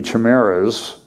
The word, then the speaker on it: chimeras: So far, these human-monkey chimeras is how it's pronounced, are no more than bundles of budding cells in a lab dish, but the implications are far-reaching, ethics experts say.